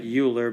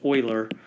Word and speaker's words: Euler: that word looks like Euler but it's a it's a famous mathematician from a long time ago and is his name is pronounced Euler almost you know like the word oil so Euler Euler circuit